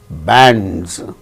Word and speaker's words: bands: After A, we find N, D and Z, bands, because D is a voiced sound and the plural marker is pronounced as Z, bands.